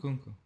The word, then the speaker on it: Nkunku: How do you pronounce that? Ooh. Kunku or Oh, Nunku? Nkunku, yeah, Nunku? Nkunku.